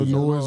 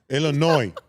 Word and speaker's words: Illinois: Illinois Illinois or Yukon. I don't think neither one of y'all would go to the final four. The S is silent. Huh? The S is silent. If you going Illinois Or noy no noise.